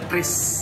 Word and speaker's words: QRIS: Itu bacanya Kris. Kris, Kris, Kris, Kris. Ya, tinggal scan aja. Kris bukan curis.